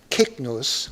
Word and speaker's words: Cygnus: Well, we start with Cygnus, or Cygnus, the swan. By the way, just because I'm being a nerd tonight, there is no S sound for that C, either in Greek or Latin.